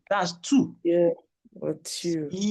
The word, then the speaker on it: voiture: Il y a trois voitures dans le garage. Please pronounce the voiture very well. You are bigger than that. Abba. I said voiture. It cannot be voiture. Look at it again.